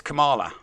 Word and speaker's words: Kamala: I'm pretty sure it's Kamala.